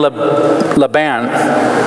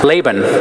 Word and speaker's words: Laban: story of Jacob and Laban Laban laban's the right way to say it right and this part I'm